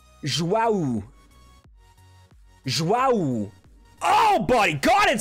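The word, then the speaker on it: João: There's a U sound at the end of Joao's name, so it's like Joao. Joao.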